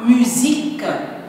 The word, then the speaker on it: musique: Geo la géo la musique la musique le S entre deux voyelles se prononce Z les maths les maths